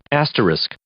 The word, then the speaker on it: asterisk: Asterisk.